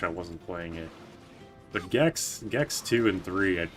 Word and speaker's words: Gex: Gex is so awesome. It rhymes with sex.